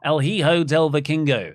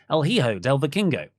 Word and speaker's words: El Hijo del Vikingo: El Hijo del Vikingo. El Hijo del Vikingo. Say it fast now. That's how you pronounce El Hijo del Vikingo.